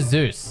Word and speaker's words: Zeus: S and Z couldn't be more similar. Basically same letter. Zeus is the god of thunder. Seuss is the god of children's bedtime stories.